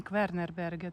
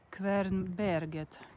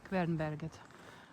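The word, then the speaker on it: Kvernberget: Не Квернербегет, а Квернбергет. Квернбергет.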